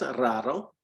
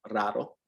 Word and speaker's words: raro: Es raro. Es raro. Yeah, just like rare, raro.